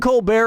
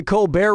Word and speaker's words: Colbert: humperdink okay so Stephen Colbert of The Colbert Report changed the pronunciation of his name from Colbert to Colbert and that's how he